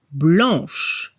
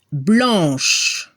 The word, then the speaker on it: blanche: Y al femenino se escucha le son sh, blanche, y no se pronuncia la E al final.